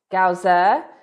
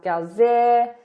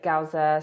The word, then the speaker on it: Galzyr: and we just found out that it's actually pronounced gausser there's been some debate around this we were calling it lands of gazier but confirmed that the designer actually does say gausser so we're going to try really hard to